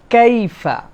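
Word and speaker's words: كيف: 2 নম্বরে কাইফা, এখানে মনে রাখতে হবে কাইফা, এই যে ইয়াটা, এটাকে বলা হয় লিন। আরবিতে একটা কায়দা আছে লিন, এটা হচ্ছে নরম করে উচ্চারণ হবে, ইয়ার উপরে সাকিন, আগে যদি জবর হয় তাহলে আমাদের জন্য এই ইয়াটা কাইফা এরকম যেন না হয়, কাইফা, কাইফা, মানে এটা একটা নরম হবে, লিন।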